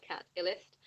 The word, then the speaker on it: Catillest: So that's spelled CATILLEST, like Cat Illist, which I still really love, but I have kind of hit pause on that project.